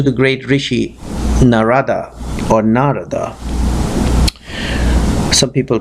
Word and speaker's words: Narada: these questions to the great rishi narada or narada some people pronounce it Narada some people pronounce hoon has